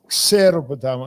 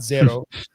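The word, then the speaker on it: Xeropotamou: Xeropotamo, not zero. It's a xa. Xero.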